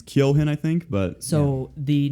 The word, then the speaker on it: Keoghan: Barry Keoghan. Something like It that. is Barry something. Yeah, I don't know Barry how to pronounce his something. last name. It's Keoghan, I think, but So the next Joker, or